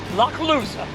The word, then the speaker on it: Lochloosa: It's pronounced Lochloosa.